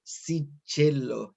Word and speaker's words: Cichello: que quien los viernes sigue pronunciado a la argentina si chelo y un eres mi